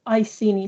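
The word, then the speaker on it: Iceni: two who's the queen of the british celtic ikeni or itzeni tribe who led an uprising against the roman empire in 60 or 61 a.d okay i have been told it's pronounced i see any tribe thank you cons man in my ear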